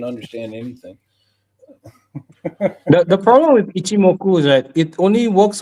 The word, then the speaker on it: Ichimoku: And it was like Ichimoku Cloud. I don't know if I I pronounced remember that that.